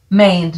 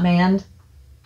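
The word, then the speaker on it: maned: grain and it is the main duck mained not manned it's made duck jenny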